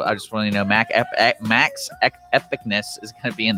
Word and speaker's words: Maxepicness: but his name is DJ name, turntable name, Maxi Pickness. I probably said that wrong. You can correct me real quick. So it's actually pronounced Max Epicness. Max Epicness.